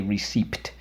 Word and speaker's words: receipt: the e the e and underlined the P twice because we don't say receipt okay and this is